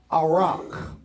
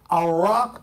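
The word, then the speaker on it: ערך: That word prepare in the Hebrew is a Hebrew word pronounced as best as I can. I'm not a Hebrew scholar. Arak. Arak. A-W-R-A-K for pronunciation, although it's a little, it's weird the way they say it, but that's how you spell it.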